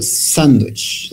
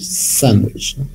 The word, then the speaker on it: sandwich: For example, sandwich, sandwich, okay? The first syllable, no?